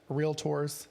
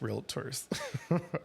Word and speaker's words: realtors: editing tips for realtors realtorss however you say it and I know how to say it but everybody says real tours stand out online okay